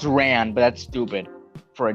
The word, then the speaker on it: Ran: The episode begins with Mando arriving at a spaceport to meet with an old friend named Ron. It's pronounced Ran, but that's stupid for a job.